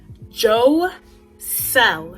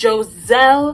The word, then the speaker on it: Joselle: send my name correctly it's pronounced joe cell not jose not giselle not jacelle or j whatever it's spelled j-o-s-e-l-l-e yeah i just made